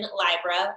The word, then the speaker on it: Libra: Eastern time on October 16th, and it's in Libra or Libra, depending on how you say it.